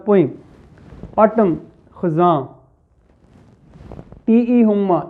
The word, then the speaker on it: Hulme: हुम्मा, इसमें एल जो है ये साइलेंट है, इसको हुल्लम नहीं होम्मा. तो इसका प्रोनाउंसिएशन जो है टी.ई. हुम्मा ये है और ये ब्रिटिश पोइट है.